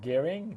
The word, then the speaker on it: Gehring: And Gehring, did I pronounce that properly? That's correct.